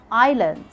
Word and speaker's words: island: Like in island, aisle, aisle. Yeah, they have the same pronunciation.